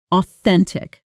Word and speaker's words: authentic: Stress on the second syllable. Practice with me. Authentic in a sentence.